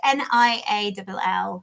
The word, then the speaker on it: Niall: it's probably when so Neil or or Nial, I'm never sure actually on this pronunciation. In my head it was Neil. It's n i a l l. Yeah, and Niall depending on where you're from. I think the Irish call him Niall.